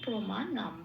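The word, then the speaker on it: প্রমাণম্: তালিকাভুক্ত করে দেওয়া আছে শব্দের শেষে অনুস্বর থাকলে সেটা ময় হসন্ত দিয়ে প্রতিস্থাপিত হয়ে যায় তাই প্রমাণের অনুসারটা ময় হসন্ত দিয়ে প্রতিস্থাপিত হয়ে শব্দটার উচ্চারণ হল প্রমাণম আসি পরের শব্দে গুরুতে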